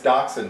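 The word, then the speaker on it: Dachshund: oh first subject how um doxen is pronounced do yourself not a dashound so we're going to introduce ourselves this time speak up l i mean it's actually it's it's daxon but like in Germany they would say Dash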